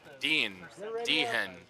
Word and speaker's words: Dehan: Brian Tweet from Moorhead will come into the table with 440,000, and Michael Dehan, the H is silent, from Brainerd, 929,000 in chips.